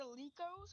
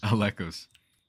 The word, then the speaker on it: Alekos: Is it Alikos or Alekos? Alekos. Why do people say Alekos? Because they say it wrong.